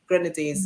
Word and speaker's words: Grenadines: How do you pronounce Grenadines. it? Steve? Grenadines, yeah. Grenadines.